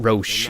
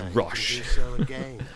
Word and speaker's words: Roche: and I know are pronouncing Roche as rush I also find it